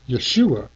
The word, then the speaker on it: Yeshua: and by the way his name was Yeshua for those who like to pronounce his name the way he pronounced it anyway he said